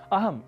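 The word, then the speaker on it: अहम्: अहम इस शब्द को अहम ऐसा कहना शुद्ध उच्चारण है, पर कुछ क्षेत्रगत प्रभाव हम भाषा पर ले आते हैं और अहम को अहम के रूप में बोल देते हैं और धड़ल्ले से बोलते ही जाते हैं।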